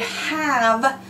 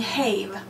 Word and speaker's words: have: end in V and the word have we're not saying habe now you know these because you have them memorized all right but I don't want it to confuse you we stick that e on because we cannot end the word in V but the e does not make the I say I it still says give alright going on we